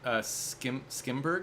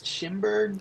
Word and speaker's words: Schimberg: Yeah, I haven't seen it, but yeah, A Different Man, which or by Aaron Skimberg. Is that how you say his name? Skimberg? Yes, Schimberg.